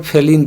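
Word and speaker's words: Phailin: इसको फेलिन जिस समय आया था उसमें पेपर में फेलिन फेलिन लिखता था, यहाँ फालिन क्वेश्चन में लिखा है। ये इंग्लिश में है तो फालिन पढ़ सकते हैं, कोई दिक्कत नहीं है, अपना प्रोनाउंसिएशन होता है सबका।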